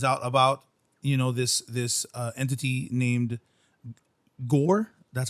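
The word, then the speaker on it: Gorr: And in doing so, he finds out about, this entity named Gore.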